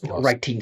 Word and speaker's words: writing: Writing C or C++ writing C# like in love with the T's. Again, that T is not important. So we don't pronounce it as a true T. We just keep it vibrating.